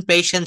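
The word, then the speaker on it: patience: তারপর দ্যাটস, এটা উচ্চারণ হবে thank you ফর প্যাশেন্স sharing. উচ্চারণটা করতে হবে প্যাশেন্স, হ্যাঁ, উচ্চারণটা করতে হবে thank you ফর প্যাশেন্স sharing. হ্যাঁ, পেশেন্স, হ্যাঁ, আরো যদি শুদ্ধভাবে বলেন পেশেন্স হবে।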